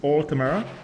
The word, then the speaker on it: Altmer: It is Altmer.